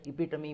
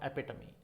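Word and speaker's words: epitome: American एपिटमी बोलता है, British में इपिटमी बोलते हैं, बट दोनों में एपिटोम कहीं नहीं होता. दिस इज इपिटमी और एपिटमी, that's what the case is, बट एपिटमी इज the pronunciation.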